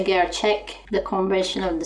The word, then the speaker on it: gerçek: However, I've got words like gerçek. When I pronounce gerçek, this ek often sounds like an ik.